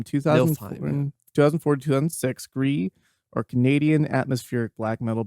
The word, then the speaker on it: Gris: Gris or Gris? I think it's Gris.